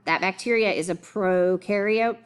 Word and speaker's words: prokaryote: That bacteria is a prokaryote. Pro rhymes with no.